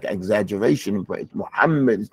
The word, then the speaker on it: Muhammad: from muhamed mamed our Prophet his name is Muhammad or Muhammad mam sometimes you hear the some they don't memorize it or pronounce when they say muhamed they say mamed mam so sometimes the people